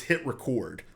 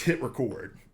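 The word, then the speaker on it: HitRecord: It's not hit record, it's hit record, like record a video.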